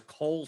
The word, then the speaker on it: Kohl: listed the starter as cole stewart cole is that a person did they just create him it was close it's spelled like the store kohl yes does he